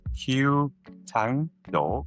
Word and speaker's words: Q Thang Do: So I don't want to mispronounce is it Q Thang Do? It's Q Thang Do.